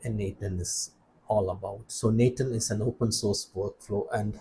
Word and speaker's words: n8n: And by the way I'm told that it is supposed to be pronounced Nathan. I'm not sure. So I'll try to pronounce it Nathan.